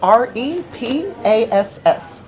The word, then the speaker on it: Repass: how you spell it R e p a s s r e p a i I couldn't tell where there was a te onut I know it sounds like repass yes and Kansas yes